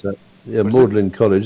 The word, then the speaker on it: Magdalene: you pronounce that. Yeah, Magdalene College.